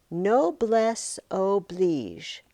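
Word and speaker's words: noblesse oblige: No bless Oblige expresses what was required of those who were bound by the obligations of chivalry.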